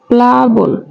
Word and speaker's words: প্লাবন: তকার ক্লান্ত এটা হলাম হবে আচ্ছা প্লাবন প্লাবন সঠিক উচ্চারণ হবে বুন প্লাবন দেখো এখানে আছে ক্লান্ত